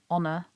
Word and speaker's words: honor: noting in this text the h in honor will be shown in red because it's actually a silent letter in this word in a moment you'll